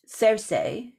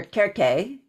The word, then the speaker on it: Circe: There was also the popularity of the Odyssey, which is very, very old, in which Circe, or Circe, for a more Greek-style pronunciation, that she was deeply involved with Hecate as well.